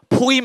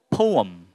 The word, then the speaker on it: poem: 포임 하지 말고 이제는 poem 이렇게 되는 거예요.